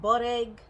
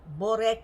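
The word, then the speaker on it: börek: turnovers little mini pies they're called bore egg sometimes they're called bad egg or borek with the k so many different ways of pronouncing it but it's a yummy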